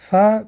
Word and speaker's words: Фа: Фа произносят, дотрагиваясь верхними резцами середины нижних губ.